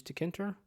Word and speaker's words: Tkinter: And moving on to tools used, we use Tkinter or TK-Inter, however you'd like to pronounce it, to make the graphic user interface part, as well as PYODBC, as I mentioned before.